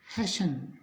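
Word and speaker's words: hasten: का उच्चारण होगा यानी एच एस टी एन इसको अपने पढ़ेंगे हैन यानी कि टी जो है वो इसमें नहीं बोला जाएगा इसके बाद एल आई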